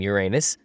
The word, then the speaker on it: Uranus: Yeah, I pronounce the planet's name Uranus, which is likely closer to the initial intonation of the name of the god after it was designated.